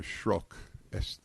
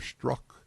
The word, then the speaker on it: Strzok: The agent Peter Strzok, you pronounce this correctly, you're good, S-T-R-Z-O-K, is considered one of the most experienced and trusted FBI counterintelligence investigators.